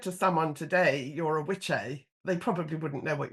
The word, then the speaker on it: Wicce: And Wicce was pronounced witche, and it meant a female witch.